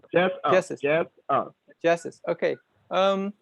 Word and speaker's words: Jesus: i pronounce your name you could say jesus just keep it jesus yep oh jesus okay